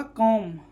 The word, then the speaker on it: comb: जैसे COMB क्या होगा? कॉम, ना कि कॉम पढ़ते हैं, कॉम। बी यहाँ पर क्या है? साइलेंट है।